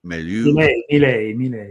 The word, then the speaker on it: Milei: You pronounce it Milei? Milei, yes.